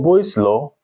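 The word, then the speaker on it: Boyle's law: So for boy's law, boy's law, B O Y L E S, that's the way it's spelled.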